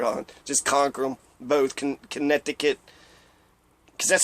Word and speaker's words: Connecticut: Connecticut, because that's how you spell Connecticut.